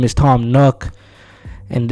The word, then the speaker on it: Nook: Now that raccoon's name is Tom Nook, and it's not bad to say that his name rhymes with crook for a reason.